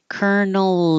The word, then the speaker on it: colonel: where is it here it's pronounced the same way as a kernel um of corn or something a seed before it's popped kernel colel so uh the colel is my parent Colonel is my the Kel